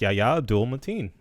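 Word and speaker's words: Yahya Abdul-Mateen: can the kid the cast you talking about yaya abdul mateen is that how you say his name you said that really quickly like you were very confident yes yaya abdul mateen the second he's playing morpheus look at that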